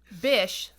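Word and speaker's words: Bich: was Marcel you know his last name is B I which I would have pronounced like that bought our patent right I'm not I'm not saying I'm saying Bic like Bish please yeah yeah so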